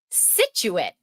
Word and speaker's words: Scituate: Scituate. This is where I grew up. It's not Scituate. Scituate. Scituate. It's Scituate. Quincy is not Quincy.